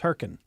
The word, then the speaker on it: Hurricane: We had a split newsroom, and the town that I lived in, listeners, was spelled hurricane, but it was pronounced with roughly 1.5 syllables, Herkin.